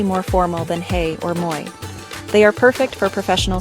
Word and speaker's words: moi: Now, let's learn our second greeting, moi. It is pronounced like the English sound moi, as in toy.